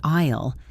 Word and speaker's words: aisle: It is spelled with an a i l e, but the s is silent, so we say isle like the land surrounded by water.